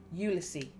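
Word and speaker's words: Ulysse: James Joyce book ulyses Garrett says the name English style pronouncing the final s i correct him ulsi right that's it do you know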